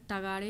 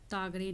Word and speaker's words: तगड़े: है ठीक है है तो सही उच्चारण जो होगा इसमें होगा डॉक्टर तगड़े होगा तागरे नहीं ठीक है इतना पर